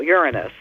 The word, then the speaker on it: Uranus: Uranus chimeric yeah well that's what astronomers prefer stressing the first syllable Uranus the problem isn't that